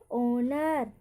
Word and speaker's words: HONOUR: तीसरा है आपका HONOUR, इसको हम पढ़ेंगे ऑनर, सम्मान। यहाँ पर एच साइलेंट।